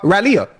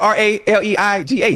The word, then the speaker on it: Raleigh: I've been to uh Raleia.